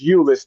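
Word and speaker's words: Euless: And you did say it right, Bill. It is Ulis, the great I call it the great city of Ulis, Texas. the people who want to be sarcastic call it useless but you is just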